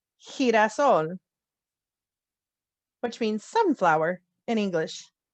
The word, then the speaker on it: girasol: If it has an E or an I after it, it sounds like an H in English. So the word to remember is girasol, which means sunflower in English.